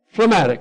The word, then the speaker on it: phlegmatic: for for jed matic how you say it phlegmatic okay phlegmatic and it means to just be